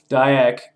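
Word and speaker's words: Dyack: they out uh out from under nintendo dennis tydek or dayak i would say his name didac die dude no dayak basically felt that they're free from nintendo and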